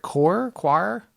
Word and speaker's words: coir: I don't know if I'm saying this right, coir?